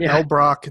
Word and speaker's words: Elbroch: But Elbrock, that's spelled Elbroch, Mark Elbrock.